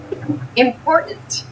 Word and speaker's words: important: The pronunciation of this word, that first T, is actually reduced. It sounds more like a D in fast speech.